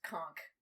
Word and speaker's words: conch: told that it's pronounced conch like the and ch is a k sound for some reason but yeah they'll be